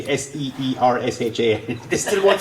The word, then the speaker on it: Saoirse: You can say it's Saoirse, you know, and you can pronounce it phonetically Seersha.